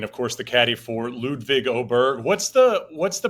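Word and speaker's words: Ludvig Åberg: Of course, the caddy for Ludvig Oberg. What's the What's the pronunciation we're going with these days, by the way? What What do you go with? You got it right. Ludvig Oberg.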